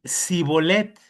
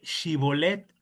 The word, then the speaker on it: Shibolet: Eh, los de Efraín, hermano, no podían decir chivolet, así de sh con la sh. Te lo voy a leer. Dice, "Los efraimitas tenían un acento distinto y no y no podían pronunciar bien la sh o la che. Ya no existe, pero bueno, en es antes sí estaba sh." Así que decían cibolet en lugar de Shibolet fue una prueba lingüística